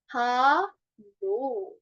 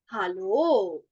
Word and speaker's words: Hallo: Hallo. Hallo. So it is somewhat pronounced like ha लो.